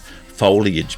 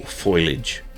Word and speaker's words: foliage: It'll be a similar video to ones I've made previously on Skyrim on PlayStation and foliage mods for Fallout 4 or foilage as the Americans say.